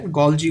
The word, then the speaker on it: গলজি: যে অঙ্গনটি নিয়ে আলোচনা করব তার নাম হচ্ছে গলজি বস্তু কিছু বই লেখা আছে গলগি বস্তু তো যেভাবেই হোক উচ্চারণটা মূলত আমরা এখানে হচ্ছে গলজি বস্তু হিসেবে উচ্চারণ করব আচ্ছা এখন গলজি বস্তু